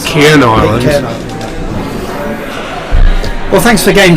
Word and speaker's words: Pitcairn Island: Pitcorn Island? Pitcorn Island. Oh, is that not how you pronounce it? Pitcairn Island.